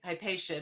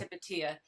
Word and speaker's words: Hypatia: female scholar was um hepatia some people say hypatia but it was actually pronounced hepatia in 400 A.D in Alexandria of you know